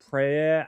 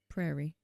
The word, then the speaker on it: Prairie: Prayer Outpost. Prairie. Prairie. There you go. Prairie Outpost. I said it wrong.